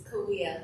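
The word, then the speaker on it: Cahuilla: And she is a tribal member of the Torres Martinez Desert Coahuila Indians. For more than, did I mispronounce that? It's Coahuila, like Coahuila. the Spanish double L.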